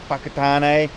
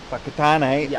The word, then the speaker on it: Whakatane: words like Whangarei and Whakatane, anything with a WH in the Maori language is pronounced as an F, like Whangarei is WH and Whakatane also WH.